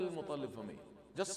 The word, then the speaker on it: Muttalib: So it is M-U dotted T. T with dot under. Because that is ta, on, fa'un. It's not T. So don't say Muttalib. It is Muttalib. M-U-T-T. Muttalib. Muttalib. Because the ta is with shadda.